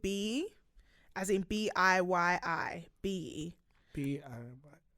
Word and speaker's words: Biyi: Biyi. Biyi. Yeah, it's a Nigerian name. I'm pretty sure that's how you pronounce it, Biyi.